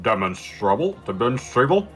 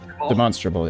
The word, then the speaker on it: demonstrable: fact demonstrable demonal demon demonstrable yeah demonstrable demonstrable it's a very odd pronunciation considering it's a version of the word demonstrate oh yeah yeah I think these days we say demonstratable but uh is your argument